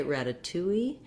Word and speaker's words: ratatouille: t in both syllables that's because this has stress on all three of the syllables so we have the afowl rather than rada we don't flap the d and we don't change this letter a to a schwa so if you want